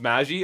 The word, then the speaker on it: Magi: So it's pronounced Magi.